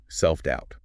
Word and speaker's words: self-doubt: self-doubt. Self-doubt, pronounced self dwt, another compound noun.